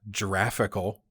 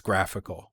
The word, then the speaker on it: graphical: And it's not giraffical, it's graphical.